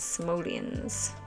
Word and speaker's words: Simoleons: How do you How do you say it? Simileon or simoleon? Their money funds. Simileons. Simoleons is the currency.